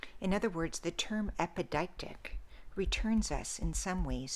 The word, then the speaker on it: epideictic: final i'll say it a couple more times epideictic epideictic epideictic is a literary or rhetorical term